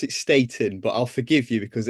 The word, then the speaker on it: Staton: it so but it we do we do try and pronounce it Statin but yeah no great